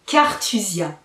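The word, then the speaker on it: Carthusia: C'est Cartusia. Alors, je ne prononce pas à l'italienne, mais c'est un univers donc italien qui vient de Capri.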